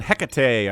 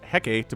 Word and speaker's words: Hecate: It's going to be on Hecate, a new map. I know it looks like it's pronounced Hecate, but it's Hecate for some reason. I guess it's Greek, which uses different pronunciation rules than English.